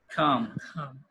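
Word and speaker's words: calm: হচ্ছে কি উল্টাটা হচ্ছে কাম উল্টা কি খাম খাম কাম মানে কি শান্ত মানে কি এল উচ্চারণটা হবে না না এল এর উচ্চারণটা হবে না খাম খাম দ্যা এনভাইরনমেন্ট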